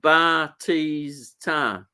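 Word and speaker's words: Bautista: Batista is pronounced Batista.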